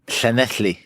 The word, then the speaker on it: Llanelli: But yes, Nigel, now let's say what you like about Nigel, but he can pronounce Llanelli. He said it properly. Llanelli.